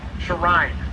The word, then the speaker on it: Sharine: He actually told me how to say his name. Sharine. That's it.